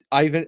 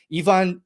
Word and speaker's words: Ivan: talk Ivan or I we have to start saying it correctly. Ivon Deidov, we'll talk about Ivan Deidov's uh debut in Montreal.